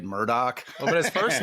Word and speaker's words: Murdaugh: Well, prior to the trial, I said it Murdaugh. Now I say it Murdoch.